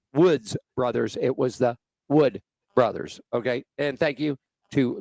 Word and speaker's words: Wood Brothers: in and I mispronounced I said the woods as in W DS brothers and it is Wood Brothers it was my mistake